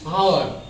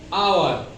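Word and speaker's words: hour: ओ यू आर हावर no this is wrong pronounce हावर that correct pronounce will be आवर so here H is silent pronounce आवर इन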